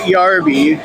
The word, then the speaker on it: Yarbie: She calls it Yarbie because it rhymes with Barbie.